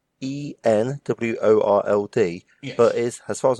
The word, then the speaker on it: EN World: exactly the initials Noah so it's e n world it's not n world because everything Lewis name was an N so yeah you actually say the actual letters out loud there e n world we just do one